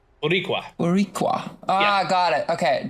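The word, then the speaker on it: Boricua: It's It's like it would be more like borua but you it's just pronounced faster. Burqua. Buriqua.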